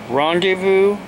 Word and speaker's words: rendezvous: vo Oh will be pronounced with a Z rendezvous is the actual pronunciation of the word I got the look